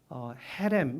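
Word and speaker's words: חרם: 해 레미 라는 뜻입니다 히브리어로 해 램 인데 기억과 히 웃을 섞어서 발음을 해야 되요 캠 입니다 km 이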